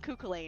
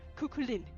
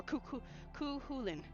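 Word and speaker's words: Cú Chulainn: I was calling him cuckulain. And he's like, "No, it's Lynn. It's Lynn. Cukulin or Cu Khulin."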